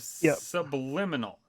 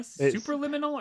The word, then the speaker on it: Superliminal: beat the whole game of subliminal am i super liminal or something super super liminal hell i've been saying it wrong this whole time all right tell me